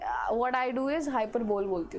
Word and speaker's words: hyperbole: Now next is, इसको कोई hyperbola बोलता है, इसको hyperbole बोलता है. What I do is hyperbole बोलती हूँ मैं, ठीक है. And many a times I pronounce it as hyperbola. Okay, hyperbole.